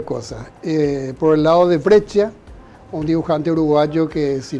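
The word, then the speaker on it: Breccia: brescia Sí con 12 yo lo pronuncio Como creo que se pronuncia brecha y yo siendo una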